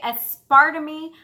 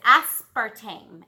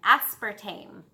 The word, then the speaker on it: aspartame: them ass par things I want to say at Sparta me but it's aspartame aspartame I talk about chewing